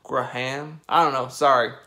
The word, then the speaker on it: Graham: get used to it in the US we basically pronounce this word as Graham GR am i've already had people giving me a hard time for not pronouncing it with kind of like two syllables Graham right ham Graham I don't know sorry